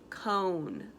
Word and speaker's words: cone: let's go on to cone Oh mmm silent e cone you guys are doing